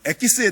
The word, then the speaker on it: 엑기스: 어떤 설교를 했냐면 어 엑기스에 대한 설교를 했어요 여러분 엑기스는 사실 일본어고 키스의 원 뜻은 영어로 스트라는 거데 이걸 이제 일본식 발음으로 에키스 에키스 이렇게 얘기를 하는 거예요 여러분 키스는